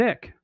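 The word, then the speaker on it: Icke: And a prominent component of these, the British conspiracy theorist, David Ick or Ike, however you want to pronounce his name. I call it Ick is a primary popularized detailing the 1990 book, The Biggest Secret.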